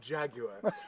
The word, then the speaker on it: Jaguar: That's how the British say it, Jaguar.